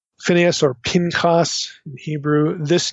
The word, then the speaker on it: Phineas: Okay, that's the way most of us would pronounce this. Phineas or Pincas in Hebrew.